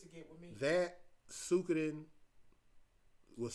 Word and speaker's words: Suikoden: That Suikoden was Suikoden. I'm sorry, that's how it's pronounced.